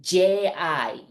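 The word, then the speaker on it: ぢ: with the second one it's not d i you pronounce it like j i g exact same pronunciation as a z line G okay so different same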